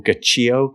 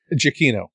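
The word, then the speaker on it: Giacchino: Uh Michael Gacio Ga Gacino Gachio Jakino Jakino he pronounces different to everyone else.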